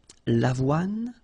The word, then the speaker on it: avoine: L'avoine, remember, don't insist on the final E. l'avoine, le blé, here, accent aigu, et le maïs.